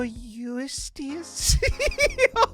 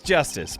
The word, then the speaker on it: Justice: Apollo Eustace? Oh, that's so adorable. That's justice, but hey, you're ESL, it's fine.